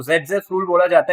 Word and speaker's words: Saytzeff: यहां पर आपके पास एक रूल लगता है, और ये जो रूल है ये कौन सा होता है, जेड, लिखते सेडजेफ हैं, बोलते जेड हैं।